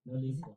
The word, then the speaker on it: Nolikwa: Is it an X or what? No, it's a Q. Nolikwa. No, yes, you said it right. Nolikwa.